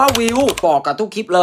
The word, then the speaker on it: Viu: viu เนี่ย เขา อ่าน ว่า วิว บอก กับ ทุก คลิป